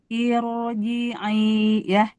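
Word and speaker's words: ارجعي: Atau Ibu di surat Al-Fajr, irji'i ila ada ya, irji'i ya, itu roknya tebal karena kasrohnya kasroh bukan asli, dia hamzah wasol ya.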